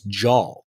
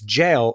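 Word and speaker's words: JAL: the ACM J as jaw our listener from Japan wrote in and said it's jail rhyming with pale oh so now you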